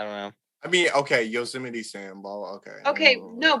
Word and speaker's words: Yosemite: So it's spelled Yose, and you compare that to Jose, Yose, and then Mite. So Yosemite. That's that's.